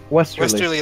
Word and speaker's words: Westerly: Westerly, like a type of wind.